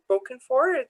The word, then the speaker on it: Bokenford: And we also have Councillors Kristen Toms and Wayne Bokenford. Did I pronounce that right? Yep. Okay. Yes, you did.